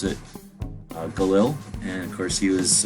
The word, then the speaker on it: Galil: gerund to the united states that same day galil was born he has a different name but we pronounce it galil and of course he was uh instrumental in